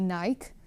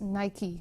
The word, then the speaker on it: Nike: for everyone yeah and now you uh finally know how to pronounce nike correctly because some of them especially in the netherlands say nike but it is nike because it's uh yeah nike the goddess of victory and here you see